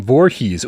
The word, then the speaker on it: Voorhees: the tips uh Jason Voorhees oh I did it phonetically and that was correct I said state of